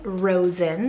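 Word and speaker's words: Rozen: So for the letter R now, I have the name Rosen, so spelled R-O-Z-E-N.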